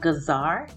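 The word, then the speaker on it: جزر: are the carrots and carrot is pronounced gazar in arabic so your gazar and here i'm just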